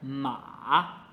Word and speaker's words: 马: 左边是女，右边是马，但是在右边的时